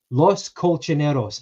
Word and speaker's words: Los Colchoneros: If you give us the answer, we'll give you the pronunciation. Okay, which Spanish club is being known as Los Colchoneros? Los Colchoneros, and that translates as the mattress makers.